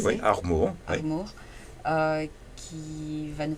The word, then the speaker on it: Armour: Bon après-midi, nous avons avec nous aujourd'hui Théo Armour, c'est bien Oui, prononcé? oui, Armour.